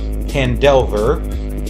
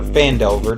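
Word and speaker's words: Phandelver: Lost Mine of Pandelver or Fandelver, depending on how you pronounce that.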